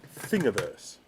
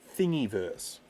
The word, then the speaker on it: Thingiverse: files up onto what i like to refer to as thingiverse even though i am regularly told by dana it should be pronounced thingiverse thingiverse not thingyverse but i like thingyverse i like the idea that it's full of thingies right so there is